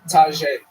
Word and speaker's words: Taja: Taja. Am I saying that right? Tajay. Tajay. T-A-J-A. That's a tough one. Everybody pronounces that one, right?